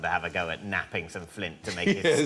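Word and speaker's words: knapping: No, but you're right, it begins with a silent K. When we made early tools, what do we make them out of? Flint napping.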